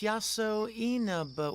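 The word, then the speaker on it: Yasoinaba: How am I supposed to pronounce that? Oh, it's written out beneath the kanji. Oh, it's Yaso Inaba.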